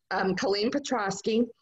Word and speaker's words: Colleen Petrosky: It's Colleen Petrosky.